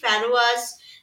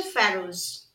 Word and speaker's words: pharaohs: এখানে একটা কথা বলি, তোমরা অনেকেই ফ্যারোয়াস বা ফ্যারাউস এই ধরনের উচ্চারণ করছো, যেগুলো কিন্তু ভুল উচ্চারণ। সঠিক উচ্চারণ হচ্ছে ফ্যারোস, ঠিক আছে।